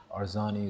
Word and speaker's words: Arzani: So Nathaniel Atkinson and Daniel Arzani, I think I've pronounced that correctly. Yes. Both broken through this season. How proud are you of? Very proud. These two players have been outstanding this year. Arzani is becoming really one of the most talked